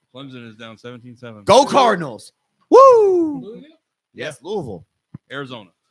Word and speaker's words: Louisville: yeah the only reason I say Louisville is because when you go there they say Louisville I got family in Louisville and I believe it's how the people who live there say it yep is how